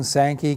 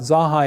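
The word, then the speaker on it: Zanja: And then after you get used to saying Sanki, guess what? It's a whole lot easier than saying Zaha. But Zahai is really the corre correct pronunciation of a name that goes back to 1819 in Redlands.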